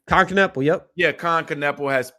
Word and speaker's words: Kon Knueppel: Kon Knueppel, yep.